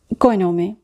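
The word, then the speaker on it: cognome: কয়নমে, এখানে কিন্তু জি আর এন এই দুটো বর্ণ মিলিয়ে উচ্চারণ হচ্ছে নিয়া। এখানে জি উজ্জ্ব থাকবে।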